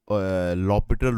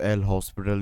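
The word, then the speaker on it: L'Hôpital: एलएच इसको लॉपिटल rule भी बोलते हैं। कई लोग उसको एल हॉस्पिटल भी बोलते हैं। सो एल हॉस्पिटल नहीं है। वो उसका प्रोनाउंस प्रोनाउंसिएशन लॉपिटल रूल ही जाता है।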